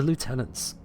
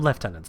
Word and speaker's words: lieutenants: new Mission from him hunting the lieutenants or left tenants depending on how you pronounce it also that light's horrible